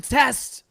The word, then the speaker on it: Test: A lot just- of people think it's the river Tay. It's I just not. say a word with a T, and maybe you'll get it. The test. And it rhymes with best.